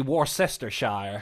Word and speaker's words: Worcestershire: It's actually Worcestershire.